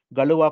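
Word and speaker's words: Galois: the one is called galua counter mod I used to pronounce this as Galax counter mode I was told that this is wrong because this is a French word like when you write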